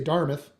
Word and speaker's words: Dartmouth: uh they would say Dharmoth. It's Dart Dartmouth is how it's spelled but they would say Dharmoth which is across the water kind of a sister city Halifax.